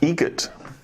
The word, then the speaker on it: Eget: Eget. Eget. Spelled differently. Like the bird. That's Eget.